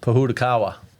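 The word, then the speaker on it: Pōhutukawa: notice that I intentionally didn't even try to pronounce it Puda Kawa and what is that that would be a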